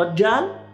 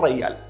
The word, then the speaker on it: رجال: يعني احنا نقول مثلا رجال، بالكويت يقولون ريال، نفس الكلمة بس النطق اختلف.